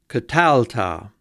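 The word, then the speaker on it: קָטַלְתָּ: First, we have the second masculine singular, katalta. Notice that this syllable is accented.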